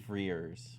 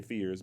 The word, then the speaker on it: Frears: Frears. I keep wanting to say Fears, but there's an R in there.